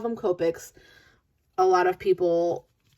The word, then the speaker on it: Copic: bit so today we're going to talk about copic markers and before i even get started i know that a lot of people call them copics a lot of people call them copics a lot of people call them something all